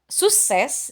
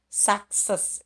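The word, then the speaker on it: success: ada di dalam ya jadi kita nggak baca sukses ya sukses ya tapi kita baca sakses Ya karena c yang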